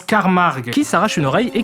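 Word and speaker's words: Carmack: Et ils arrivent à mettre la main sur le professeur Carmac. Non, ça se prononce Carmarg qui s'arrache une oreille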